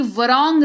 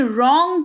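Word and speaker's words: wrong: फिर है डब्ल्यू आर ओ एन जी वरोंग नहीं रॉन्ग पढ़ेंगे।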